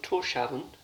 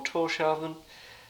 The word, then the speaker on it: Tórshavn: But we're in the capital of Tórshavn, I think it's pronounced, and yeah, nice view.